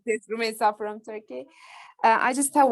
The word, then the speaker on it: Rumeysa: I am Rumeysa from Turkey. I will always say it like this, Rumeysa from Turkey.